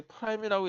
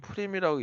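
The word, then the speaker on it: Prim: 자, 그 다음에 또 뭐가 있냐면 이게 프라임이라고 읽지 않고 이거는 프림이라고 있습니다.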